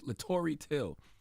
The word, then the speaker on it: Latoroy Till: Latoroy Till. Did I pronounce that right? Oh, yes, Latoroy Till.